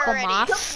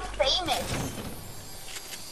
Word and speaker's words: FAMAS: I want a FAMAS. I want my FAMAS. Give me my FAMAS. Give me a FAMAS. I want a FAMAS. Rishi calls it a famous. It's called a FAMAS.